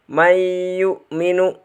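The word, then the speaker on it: مَن يُؤْمِنُ: Mayyu'minu. Cara membacanya dibaca dengung dengan memasukkan nun sukun kepada ia.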